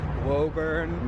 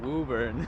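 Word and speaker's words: Woburn: Pronounce the town that we're going to Wurn. No, Wuburn.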